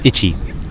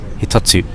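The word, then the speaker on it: 一つ: 一つ Not ichi. Hitotsu.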